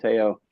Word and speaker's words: Teo: We're going to rip the golf course, and then I'm going to fly down to Miami with Teo and yeah, his name's pronounced Teo, not Tao.